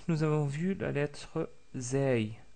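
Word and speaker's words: زاي: Ensuite, nous avons vu la lettre Zay, Zay, qui est facile à prononcer parce que c'est l'équivalent de la lettre Z en français, comme dans le mot Zaytounatun ou Zaytouna tout court.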